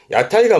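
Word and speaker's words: 屋台: 그래서 발음은 야타이입니다. 야타이가 뭐냐면 이 그림이세요.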